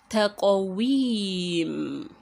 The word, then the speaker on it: تَقْوِيم: Taqawim, taqawim. You remember qaf is a huruf al-qalqala, and that is why you say taqawim.